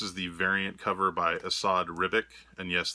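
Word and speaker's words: Esad Ribić: This is the variant cover by Asad Ribic, and yes, that is how you say it. Asad, just beautiful, beautiful cover.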